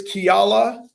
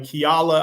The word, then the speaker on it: Kiala: I swear it's Kiala, and her last name is Stevens. I didn't mess that up. But Kiala, I swear is her first name. That's how you say it.